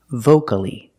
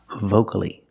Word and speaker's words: vocally: one syllable before c-a-l-l-y if you have only one syllable before c-a-l-l-y then the a is not silent example vocally there's only one syllable before c-a-l-l-y so the a is not silent we pronounce it vocally vocally and the word locally